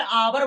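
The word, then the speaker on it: hour: किया जाता है गैस जैसे अवर अब इसमें अवर बोला गैस इसमें आपकी आवाज़ आई लेकिन ह इसमें साइलेंट हो गया गैस इसी प्रकार से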